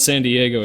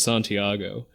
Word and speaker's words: Santiago: name incorrectly i said it's not san diego it's santiago and they're like okay